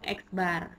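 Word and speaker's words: x̄: tanda mint atau rata-rata dibacanya yaitu eksbar ya Ini eksbar nah untuk selanjutnya pada pembahasan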